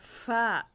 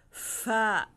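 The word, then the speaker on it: ف: at ang panghuli letter fa fa sound like funny funny fa hindi siya Ha Hindi siya pa okay ulitin natin to do ain gin fa kof kof kabilang din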